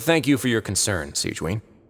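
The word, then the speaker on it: Sigewinne: But thank you for your concern, Sigewin. Oh, Sijuan? That's how you say her name? I didn't know how to say Fontaine names.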